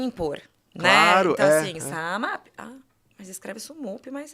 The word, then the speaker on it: SumUp: Só que se a pessoa lê SumUp, ela vai falar SumUp. Então, assim, era legal porque no atendimento ao cliente era Sanap, Sunup, tal. E aí, o que a gente fez? A gente fez um brand sound, que era SumUp. Que vinha em todo o vídeo para fortalecer, né, essa desconexão entre a leitura e o como se fala, né?